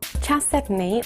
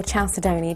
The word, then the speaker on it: chalcedony: Chalcedony, or chalcedony, depending on how you pronounce it, is best thought of as a species name rather than an individual gem material.